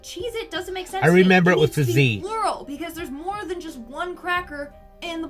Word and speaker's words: Cheez-It: number nine we have Cheez-Its but apparently that tasty cheese cracker is not called Cheez-Its it's Cheez-It either I've been saying it wrong my entire life or this is proof